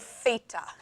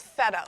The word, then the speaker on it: theta: it's called Theta and I always like to spell it because I had a student years ago that graduated from grade 12 thinking it was feta like the cheese very yummy cheese but not the same thing Theta anyone know the equivalent